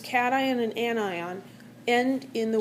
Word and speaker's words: cation: And cation looks like cation, like short for vacation, but it's not.